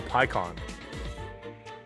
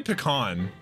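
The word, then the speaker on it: Pan: limited oh oh Pon oh I say pean like pecan pie I hate you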